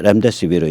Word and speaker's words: 렘데시비르: 조선사회면에서 코로나 유력 치료제 렘데시비르. 이거 미국 약이죠. 저희가 몇 번 얘기했습니다. 일단 렘데시비르 I가 아니라 어입니다. 임상실험 실패. 렘이라는 이게 E자이기 때문에 E자는 어이로 발음해야죠. I 발음이 나올 수 없습니다.